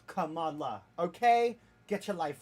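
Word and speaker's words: Kamala: He said, "Hey, Camila." She's like, "No, no, no, bro. Let me tell you. I wanted to tell you for a while. It's pronounced Camala."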